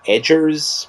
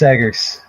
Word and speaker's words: Eggers: Edgers? No, Edgelord? no, I think it's Eggers. The Okay. hard egg in the name, Hard hard egg, boiled yeah.